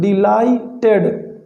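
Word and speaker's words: delighted: ही was extremely डिलाइटेड, extremely डिलाइटेड, ठीक है, डिलाइटेड, GH silent है, डिलाइटेड, एक्सट्रीमली यानी बहुत ज़्यादा।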